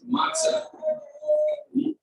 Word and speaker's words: matzah: And the hey at the end, by the way, is silent. Everyone knows that, right? A lot of words like that in Hebrew. Like we're fine in English, F-I-N-E, going over there. So the hey here, matzah, hey silent.